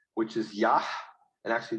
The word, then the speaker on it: Yah: his name which is yah and actually the h at the end of that is not silent as it is at the end of yehovah is probably yaha say yaha okay you